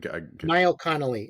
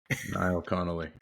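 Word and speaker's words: Niall Connolly: say his name one more time I couldn't n Connelly n i a l l c o n n o l l y n Connelly all right we'll have to check check him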